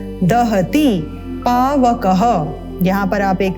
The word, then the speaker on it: दहति: छिन्दन्ति शस्त्राणि ण शस्त्राणि नैनम दहति, दहति नहीं है, दे ना बोलें, इसको बोलना है द जमा अ मिलकर बनता है द। दहति पावकः, यहाँ पर आप